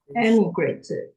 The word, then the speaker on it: emigrated: This word, okay, we should pronounce this E as emigrated, or I think it's easier because there's another word mean immigrated. Okay, it sounds very similar.